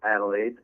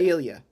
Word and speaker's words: Adelia: It's Adelaide. Is it Adelaide or is I think Adelia? it's Adelia. I think it's Adelia.